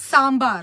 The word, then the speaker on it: sambar: sambar sambar sambar yeah that's not how it's pronounced guys it's sambar okay sambar like from the south that's how we say it you have to get your tongue rolling having taken that quick